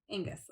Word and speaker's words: Angus: I'm just going to say Angus. I don't know if that's right. If it's not, leave a message in the comment below and let me know the phonetic pronunciation of that. Oh, wait, it's here in the book. Angus. Yeah. Okay. Angus. I'm right.